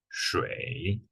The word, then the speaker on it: 水: So the pronunciation is 水. So this one's the hardest tone.